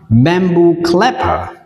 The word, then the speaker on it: bamboo clapper: Bam e a đọc là e, bu hai o đọc là u, clapper, bamboo clapper.